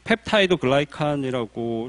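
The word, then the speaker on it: peptidoglycan: 그래서 우측 아래 용어 해설을 보시면 펩티도글리칸이 나와 있는데 펩타이드 글라이칸이라고 실제로 발음을 하고요.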